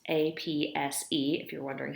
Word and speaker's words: apse: the far end of the nave is an apps the apps apse if you're wondering how that's spelled is the altar for clergy to conduct